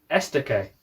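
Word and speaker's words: Estoque: Okay, there's the Lamborghini Estaque. Correct pronunciation as well.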